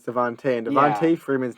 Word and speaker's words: DeVonta: It's spelled Devonta, but it's Devontae.